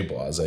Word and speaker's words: Blasé: hat name to j blase but i spelled it b-l-a-z-a-y so you could pronounce it because you can't do accents on instagram um and then i